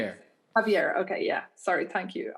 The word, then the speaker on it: Javier: Javier.